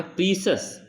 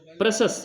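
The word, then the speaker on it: precious: प्रीसस, प्रशस लिखा है, प्रशस, हम लोग प्रोनाउंसिएशन सीखें।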